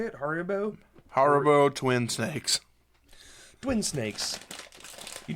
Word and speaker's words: Haribo: If you've never had Habaru? How do you say it? Haribo? Haribo twin snakes, Twin snakes.